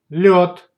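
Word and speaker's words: лёд: If the word has the letter yo, it's always stressed. If the letter yo follows zh or sh, then it's pronounced like o. Let's see examples. Береза, береза, береза. Лед, лед, лед.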